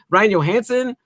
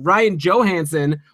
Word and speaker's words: Ryan Johansen: good there right and Ryan Johansson oh sorry actually we were corrected in our face book with Ryan Johansen we're taking extra steps on this podcast - you know pronounce the names correctly so we really appreciate